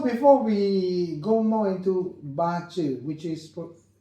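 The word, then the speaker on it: bazi: So so before we go more into bachu which is pronounced as bachu.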